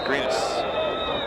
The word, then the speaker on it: Greenis: Yes, the pronunciation is Greenis.